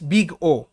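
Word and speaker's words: Big O: এটা দিয়ে জেনারেলি কোনো একটা অ্যালগরিদমের ওয়ার্স্ট কেসকে ডিনোট করা হয়, অ্যান্ড ইট is pronounced as বিগ ও।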